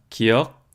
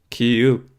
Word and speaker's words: 기역: 시옷이라고 표기를 하고 있는데요 지금 최세진이 과연 기역 디귿 시옷이라고 읽었을까요 아마도 아닐 겁니다 그거 표현하고자 했던 음가는 이런 걸 거예요 그 느 드 르 무 브 스 으 또는 기 니 디 리 미 비 시이 끝 소리로 표현하고자 했던 것은 윽은 으을음 읍 으 응 그런 발음을 한차를 이용해 표현하고자 했던 것이죠 다른 것과의 통일성 연관성을 고려하 건데 기윽 디으 시옷이라고 표현하고 싶었다고 보는게 훨씬 합리적일 겁니다 이제 여기서 문제가 발생하죠